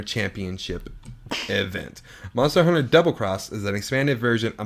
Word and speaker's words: Monster Hunter XX: Capcom has announced that Monster Hunter xx pronounced double cross is heading to Nintendo